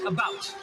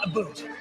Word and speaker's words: about: speak English and French not American and I pronounce it about not a boot I can proudly SE my country's flag and